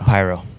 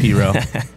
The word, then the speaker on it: Piro: pyro okay which realistically means Piro cuz it's pero wet but we were like let's do pyro